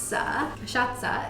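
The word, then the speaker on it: cachaça: made in different countries now now going to kashaka is how you pronounce it this is a brazilian liquor and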